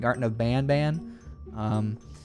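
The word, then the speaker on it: Garten of Banban: It's actually pronounced Garten of Ban Ban.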